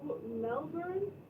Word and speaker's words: Melbourne: Now, now, how do you say it, Sean? Is it Mel Melbourne? Burn. Yeah. Like you're burning something. Melbourne. You know, I've always said Yeah, we always said it wrong. No born. And all Americans did. Now, why is that? Why do you think that is that we always say no born?